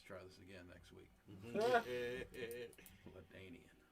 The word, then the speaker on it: LaDainian: this again next week latanian ladainian yeah is that how you pronounce it yeah yep you do got a